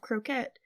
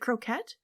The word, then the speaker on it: croquet: plays a game of croette. Is it croquette? Croquet? They say croet. Um, I think that's how they say it in England. Okay. Or in the book at least at that time period.